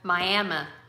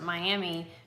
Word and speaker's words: Miami: We have a Miami in Oklahoma, but it's called Miami. And if you are in Oklahoma and you pronounce it Miami, people know you're not originally from here.